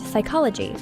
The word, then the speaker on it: psychology: Words like night have a silent K, and psychology begins with a silent P, making pronunciation tricky.